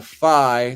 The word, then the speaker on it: phi: I'm sorry, but I think that is the letter F in Greek for phi, and it's pronounced phi.